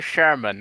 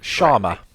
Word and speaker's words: Sharma: got the new boss of Xbox is Asher Sherman. I hope I pronounced her name. Sharma.